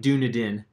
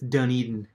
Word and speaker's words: Dunedin: little hard to pronounce it looks like Doudna din but it's Dunedin hey David Lopez I